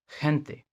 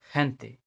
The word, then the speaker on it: gente: लेकिन जब ये ई और आई के पहले आता है, जैसे सी आता था, तो इसका प्रोनाउंसिएशन एच होगा, kind of H, like gente, gente, Argentina, Argentina, her sound,